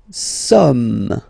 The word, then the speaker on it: sommes: Nous sommes. Okay, nous sommes. Okay, so you don't pronounce the final S here, it doesn't exist.